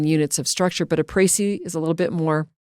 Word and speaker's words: Précis: C-I-S, Précis.